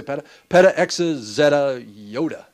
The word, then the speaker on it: yotta: Peta, exa, zeta, yoda. This is pronounced Yoda for sure, not Yada.